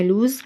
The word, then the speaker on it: lose: عندي اول كلمه عندي اسمها لوز والاس هنا بتتنطق زد لوز هنا فعل بمعنى